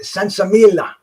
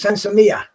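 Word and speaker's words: sinsemilla: the sensamia you know people were pronouncing it sansamila sansamilia but it was it was sensamiya um thanks queeque man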